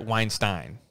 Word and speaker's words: Weinstein: He pronounces it the opposite of Harvey Weinstein. So Brett Weinstein.